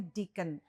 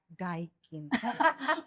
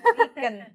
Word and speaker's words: Deakin: dipronounce-nya Deakin, bukan Daikin. It's not the AC ya Mbak Lina ya, Yeah, no so Daikin ya. Deakin ya, Deakin, not Daikin.